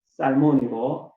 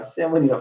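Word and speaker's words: Salmon: 그의 아버지는 살몬이고 그의 어머니는 라합이었습니다. 여러분, 살몬 영어에서는 스펠링은 같아요. 샘은 연어하고 스펠링은 같습니다. 그러나 우리가 샘은이라 발음하지 마시고 살몬이라고 해야 되겠습니다.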